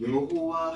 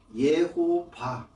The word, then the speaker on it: 예호바: 그런데 실지 발음은 마수라 원문에 의하면 거기 모음 기호가 표기가 되어 있어요. 그 모음 기호로 보게 되면 여라고 할 때 우리는 보통 여호수아, 여호와 이렇게 하죠. 근데 그 여라고 발음하는 것은 예루살라임 할 때 예와 똑같은 단어예요. 요에다가 쉐바가 찍혀 있거든요. 그것을 예라고 발음을 하지 여라고 발음을 하지 않습니다. 그래서 예호바 그러니까 그것도 이제 여호와라고 해서 이응 발음하잖아요.